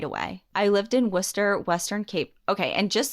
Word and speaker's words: Worcester: everyone comes at me this is spell like Worcester like in Mass okay and it looks visually like Worchester I don't know how it's pronounced but in Mass we say Worcester it's Worcester it has to be I don't it's